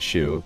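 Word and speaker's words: Hsu: Every subsequent game is translated by a different team led by Janet Shu. Yes, that is how you pronounce her last name.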